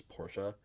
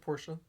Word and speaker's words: Porsche: So, Also, real quick, I know that the correct pronunciation of Porsche is Porsche. I'm American, and that sounds stupid to me, so I'm not going to call it that. that's fine. I'll call it Porsche.